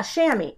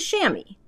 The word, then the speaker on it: chamois: am taping this yeah shammy it's like a chamois a chamois how many of you